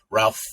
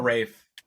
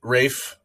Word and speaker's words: Ralph: second in command to Ralph finds character who is the leader of the hotel Rafe it's Rafe finds Lord Voldemort um and